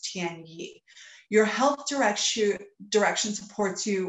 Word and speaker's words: Tian Yi: It's pronounced Tian Yi.